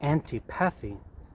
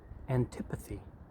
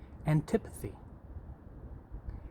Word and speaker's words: antipathy: noun please repeat after me it looks like an type a fee but the correct pronunciation is antipathy can you say that with me antipathy and tip of the-- it just means strong